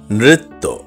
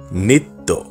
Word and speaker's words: নৃত্য: হবে গড়াগড়ি সঠিক উচ্চারণ নৃত্য আমরা অনেকেই ভুল উচ্চারণ করে বলি নিত্য না এখন থেকে সঠিক উচ্চারণ করে বলবো নৃত্য সঠিক উচ্চারণ ভাইরাল আমরা